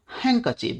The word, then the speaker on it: handkerchief: With his handkerchief, handkerchief, यहां hand कर chief नहीं है, इसको हैंकरचीफ बोलते हैं। इसमें बीच के कुछ वर्ड्स रिडल्स साइलेंट है।